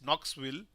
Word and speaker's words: Knoxville: EST thank you dear and I hope uh we don't uh pronounce this K so it's Knoxville Tennesse 10:35 a.m.